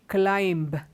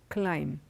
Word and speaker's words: climb: say but it's wrong when you pronounce these words the B is silent it is comb climb come the B is